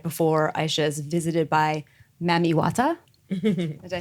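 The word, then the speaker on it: Mami Wata: the pool right before Aisha is visited by mamiwata did I say it right yes you did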